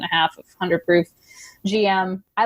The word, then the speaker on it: J.M: It's the letter JM, like we would say, but you pronounce it GM.